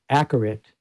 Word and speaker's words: Acourate: And you can see that corrected by a program called Accurate. I know it's pronounced weird, but it's spelled Acourate, and a companion program called Accurate Convolver.